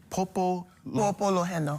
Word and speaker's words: Pōpoloheno: Popo Loheno.